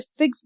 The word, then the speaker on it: fixed: Oh no, it is an ever fixed mark. यहाँ पे fixed नहीं पढ़ेंगे, हम इसे fixed पढ़ेंगे क्योंकि यहाँ पे एक syllable कम हो रहा था तो इसलिए E पे जोर दिया गया है।